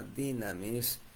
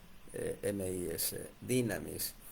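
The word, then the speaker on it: δύναμις: Esa palabra virtud en el texto original es dinamis, se escribe dunamis, así se escribe dunamis, D-U-N-A-M-I-S, dunamis, pero se pronuncia dinamis, D-Y-N-A-M-I-S, dinamis.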